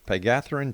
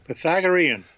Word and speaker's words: Pythagorean: He designed the Pagatharan Tarot and wrote the comprehensive guide to how do you say that? Pythagorean.